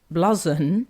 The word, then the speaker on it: blouson: Well, Gareth says my granddad would have called it a blouson, pronounced bluzon.